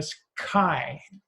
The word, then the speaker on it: chi: nu Greek letter and a sky sounds like a K I and it's but you